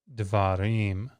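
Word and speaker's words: דְּבָרִים: So if you listen, davar and davarim, something happens in particular to that vowel. So what is it? Davar goes to dvarim in the plural. That comets reduced.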